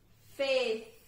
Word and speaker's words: fifth: Fifth. Para fifth, eu posso pronunciar com o som do F que tem no meio. Então, fifth. Fifth.